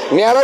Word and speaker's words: Nayara: company का नाम देखिएगा नरा है या नायरा है थोड़ा कंफ्यूजन हो जाती है लेकिन स्पेल देख लीजिएगा स्पेलिंग के हिसाब से जब यहां मिलते हैं एन ए वाई ए आर ए न्यारा भी बोलते हैं अभी फिलहाल के ौर